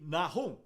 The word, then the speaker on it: Nahum: Vamos estudar Jonas e Naum, ou como são pronunciados no original hebraico, Yona e Nahum.